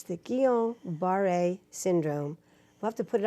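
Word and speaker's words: Guillain-Barré: the rest of the stels title it's the keel bar a syndrome love to put it up on the screen because nobody knows that spell it it's French GU IL l AI n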